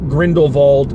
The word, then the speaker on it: Grindelwald: I pronounce it Grindelwald because that's the way Jim Dale in the Harry Potter audiobooks that I've listened to, as stated, pronounced it.